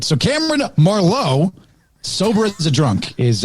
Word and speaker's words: Marlowe: our good buddy cameron marlowe and it's uh how you pronounce this the emphasis was on the wrong syllable right there cameron marlow marlow first of all i